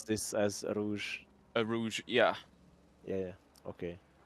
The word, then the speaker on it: Rouge: They Thomas are fuck up here with the car, spun again in EA Rogue.